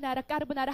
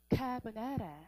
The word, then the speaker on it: carbonara: 아, 왜 우리 까르보나라 하잖아? 아, 근데 까르보나라가 아니었어. 뭐였어? A carbonara. 아, carbonara. A carbonara. 아, carbonara. 여러분, 제발 아, 발음을 제대로 알아주란 말이야. 그치? 카보나라.